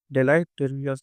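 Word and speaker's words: deleterious: अह 17वा है वह उसका प्रोनाउंसिएशन उत्तर होता डेटरियस इसका मतलब होता है खतरनाक हानिकार है।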